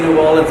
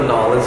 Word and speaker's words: New Orleans: Well, we say New Orleans or Nolans. It just depends on which side of the track.